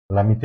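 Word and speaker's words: Lamitiye: बीच एक होता है लमित या फिर इसको लम ते पढ़े ठीक है स्पेलिंग होता है एल ए एम आई टी वाई तो ये लते होता है भारत और जापान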